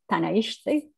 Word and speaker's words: Tánaiste: I think it's something like Tánaiste. That was an excellent pronunciation.